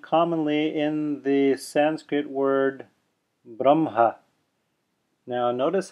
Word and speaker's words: Brahma: They say Brahma, reversing the pronunciation of the H and the M, even though it's written Brahma. Now, the technically correct pronunciation is probably Brahma, as written.